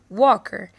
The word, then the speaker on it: Walker: Walker children this is the family of Walker Walker the L is silent they were spending their